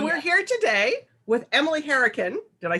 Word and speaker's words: Hourican: So we're here today with Emily Hourican.